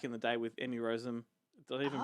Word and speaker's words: Rossum: Yes, he did Phantom of the Opera back in the day with Emmy Rossum. Did I even pronounce her name right? I didn't even know. Yeah, you did actually. Rossum, Minnie Driver, which is the silliest fucking name in the world.